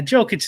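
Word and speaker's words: Jokić: said giannios my bad someone told me i've been saying jokic and it's jokic yeah like i got a lot to learn brian yeah joe kitch is easy because it's the jokers his nicknames yeah that's the thing you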